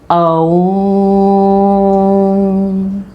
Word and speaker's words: ओम: आ, ऊ और माँ, इससे मिलके ओम शब्द की रचना हुई है। ओम।